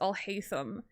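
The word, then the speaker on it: Alhaitham: I mean, his name is Alhayam. Get it? Pronouncing his name kind of sounds like I'll hate them.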